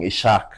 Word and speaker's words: Ishaq: So I ended up just saying Ishaq because that's the way it's written anyways.